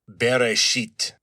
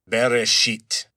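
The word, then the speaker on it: בראשית: and those are pronounced beresit beresit. So, not very pleasant. Sounds kind of like bury something unpleasant, but there it is.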